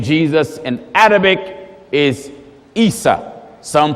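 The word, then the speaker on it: عيسى: The way you say the name Jesus in Arabic is Isa. Some pronounce it Esau.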